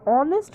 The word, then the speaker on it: honest: H is singular here, h is silent here, so it has a consonant sound, sorry, vowel sound, so we are using an.